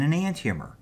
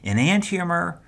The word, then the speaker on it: enantiomer: One of those types is called an enantiomer. So repeat that after me. Enantiomer, enantiomer.